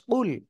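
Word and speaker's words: قُلْ: বলুন আল্লাহ এক আর এই জায়গায় যদি আমরা কুল এমন না বলে যদি শুধু বলি কুলহু আল্লাহু আহাদ তাহলে উচ্চারণটা কি হয়ে যাচ্ছে উচ্চারণ শুনতে প্রায় কাছাকাছি কিন্তু উচ্চারণ ভুল হয়ে যাচ্ছে আর এই যে আমি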